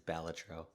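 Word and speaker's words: Balatro: It's a Latin word. It exists. It has a pronunciation. What does it mean? Jester. I'm It's not a word he made up. It's batro.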